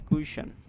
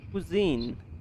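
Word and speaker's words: cuisine: ইম কুশন বলা হয় কুইশন কুইজিন কুজিন কুজিন কুজিন বলা হয় কুইশন নাই কুজিন কি বলা হয় কুজিন কুজিন শুনতে পাচ্ছেন কুজিন নট কুইশন কুজিন কি বলা হয়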